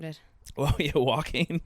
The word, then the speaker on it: Joaquin: Yeah, he's Joaquin Phoenix's brother. So he was like one of those younger stars. I was gonna say his name, but I would have butchered it. Well, yeah, Joaquin, like, yeah, it's spelt Joanne, weird as well.